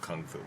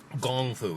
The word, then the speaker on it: gongfu: Chinese at the back Gong foo is the correct way to say and spell kung fu if you go to China and say kungfu because Americans but no that's not the proper way to say it anymore it's gone through gongfu